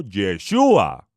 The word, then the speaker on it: Yeshua: la tierra con la instrucción divina de llamarlo yeshua porque porque yo si a él salvará a